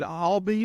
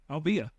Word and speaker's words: Albia: Is it Albee or Albia? Albia. Albia. Yeah, I thought that was right.